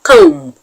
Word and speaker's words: comb: another good example is the word com com c o m b the b in com is silent so you do not